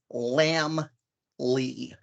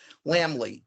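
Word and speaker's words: Laemmle: bizarre German name but it's pronounced lamb Lee like little lost lamb and Richard Henry Lee lamb Lee and they were Universal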